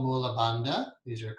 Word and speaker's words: Bandha: Then there's something called Mula Bandha. These are called, in Sanskrit, it's hard to pronounce it with the English tongue. It's Band, like B-U-N-D, but not even that.